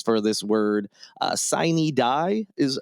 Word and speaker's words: sine die: Sine die is how I thought it was pronounced, but then I think other people pronounced it Synodia. Either way, it's the title of this episode. It's a Latin term.